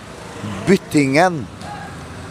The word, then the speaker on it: Byttingen: Byttingen is how we pronounce it in Norwegian. In Trøndersk, where I am from.